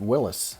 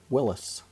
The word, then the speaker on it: Willys: And if you are interested, I found an old commercial uh that pronounced it Willys. So, that is how they pronounce their name, Willys.